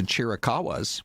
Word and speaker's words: Chiricahua: Because if you go with the spelling, it's Chiricahua. Hua. Or But like, you don't have to say it that what way.